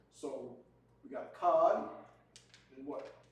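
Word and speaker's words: אחד: Akkad, right?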